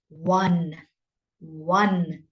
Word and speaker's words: won: please pronounce it correctly it is pronounced in exactly the same way as you would say or any one can you say it with me one one that's how you see